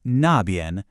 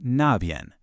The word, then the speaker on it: 那边: And of course, the natural counterpart to that is 那边, pronounced 那边.